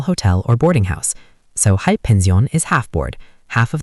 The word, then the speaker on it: Halbpension: Next German word is Die Halbpension. Pronunciation, die Halbpension.